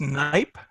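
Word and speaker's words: Knight: go yeah yeah this the K is silent so it's night okay night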